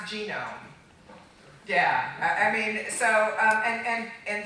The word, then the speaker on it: GNOME: to pronounce it by the dictionary pronunciation, which in the United States anyway is gnome, the G is silent.